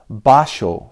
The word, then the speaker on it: Basho: But in Japanese, it's Basho Osho. And this is not to be confused if you're poetry buffs with Basho the poet. They're completely different people. So Basho Osho said to his